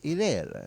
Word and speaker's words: Irrera: It's Irrera. Irrera, stupido.